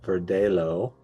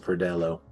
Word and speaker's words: Verdelho: sweeter than either they make one called the Charleston Cersei or the Savannah Verdeo uh Verdello. Sorry, I'm saying it wrong. Sorry about that. Verdello.